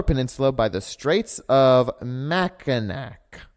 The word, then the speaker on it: Mackinac: by the Straits of Mackinac. It's Mackinac. Mackinac. That's a shibboleth. That's how you know you're not from there, is because you said Mackinac. It ends in a C.